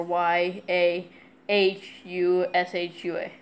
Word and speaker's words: Yahushua: Y-E-S-H-U-A or Y-A... H-U-S-H-U-A. Yeah, Yahushua, like Joshua with a Y.